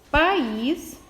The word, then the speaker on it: país: Qual é a sílaba tônica? É aquela mais forte. Então, é o, por exemplo, aqui, ó, é a país. E a minha sílaba tônica é is. Ela é classificada como oxítona.